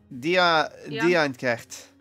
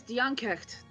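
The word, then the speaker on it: Dian Cécht: Diankrecht. Oh wait, right, it was Diankecht.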